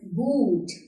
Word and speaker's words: gut: यहाँ पे H नहीं है, तब भी U का साउंड लंबा हो रहा है. This is good. Sometimes there are always exceptions in the language. तो यहाँ पर H नहीं है, उसके बाद भी U लंबा है. ये बस आपको याद करना पड़ेगा.